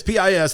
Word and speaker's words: Pis: It's pis.